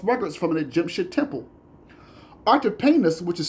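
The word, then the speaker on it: Artapanus: David has also found complimentary evidence in the account by Artipanis a Jewish historian.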